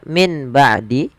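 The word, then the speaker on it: مِنْ بَعْدِ: Maaf, suara nun yang sukun diganti dengan mim. Maka mimbah awalnya min ba'di karena dia ada mim kecil di atasnya diganti suara mimnya.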